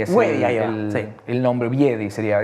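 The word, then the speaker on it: wiedii: Es Leopardus wiedi, es sí. El nombre, wiedi sería, es con W pero se pronuncia así, el nombre científico.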